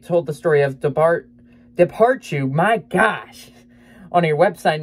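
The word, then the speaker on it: dobhar-chú: says three stars and the pronunciation in this actually says depart you which daru depart you my brain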